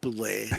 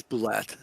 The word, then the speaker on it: bulette: Is it bulette or bule? No, it's not bule. It's bulette.